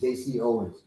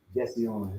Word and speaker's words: JC Owens: as far as Jesse Owens was really known as JC, white folks mispronounced it and just kept it, renamed it. His name is JC Owens. We call him Jesse Owens.